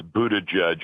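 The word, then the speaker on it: Buttigieg: and you'll probably you'll correct me on my pronunciation at noisy cabinets boo to judge and it is it's the only reason I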